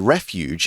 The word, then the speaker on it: refuge: And it once provided refuge, and that is a soft G. It's refuge, not refuge or anything like that.